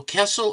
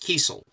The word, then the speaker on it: Kiesel: Is it Carl Kessel or Kiesel? He says it's pronounced Kiesel. I said, yes, sir, Mr. Kiesel.